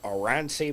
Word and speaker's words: Oranssi: And it's by a band called Oransi Pazuzu. Nice. Yeah, and it's spelt how it sounds.